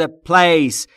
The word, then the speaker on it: place: یعنی هستی این در ا یک سیف یعنی ایمن امن پلیس یعنی مکان در مورد تلفظ پلیس دوباره پی و ال بینشون صدا وجود نداره پس میشه سف یعنی